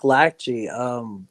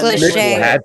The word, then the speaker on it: Lachey: So it's That- actually that- spelling that- negligee, like lingerie.